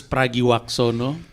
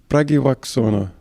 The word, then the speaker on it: Pragiwaksono: your last name I'm like okay I'm not pronouncing that it's pragi wakono pragi wakono yeah and that's not actually the full name